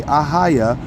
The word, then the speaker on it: AHAYA: okay but we say ahaya because the ah is a yah but we don't pronounce the yah when it's in the front of the words all right it's it's